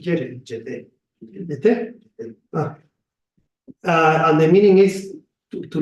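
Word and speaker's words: jeter: Jets is a English name that comes from the French jetty, I think it's pronounced jetty.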